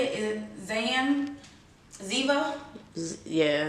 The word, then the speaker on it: Ziva: say it is zan ziva yeah it's like diva but instead of these with zzz and zebra so this is the